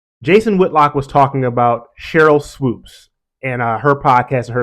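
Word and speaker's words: Sheryl Swoopes: with with me is when you say someone's name wrong he refers to her as Cheryl swopes Cheryl swoops is not um I've mentioned Cheryl swoops in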